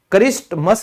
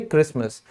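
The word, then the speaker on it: Christmas: फिर क्रिसमस, क्रिस्टमस नहीं बोलते, टी साइलेंट होता है इसीलिए क्रिसमस।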